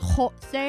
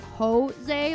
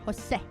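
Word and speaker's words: José: But the actual name has a jota, which has a more glottal sound that is very similar to like Scottish. It has a ho to it, and so it's Jose, not Jose, like with an H. And it's not Jose, it's Jose. The accent on the E and the E sound in Spanish itself is much shorter, Jose.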